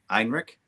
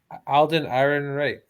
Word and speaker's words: Ehrenreich: I can never pronounce the guy's name. Alden Ehrenreich. Einrich? Alden Ehrenreich.